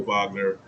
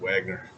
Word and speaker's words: Wagner: From a DFS perspective, I think Mo Wagner, I don't know why I said Wagner. They pronounce it Wagner.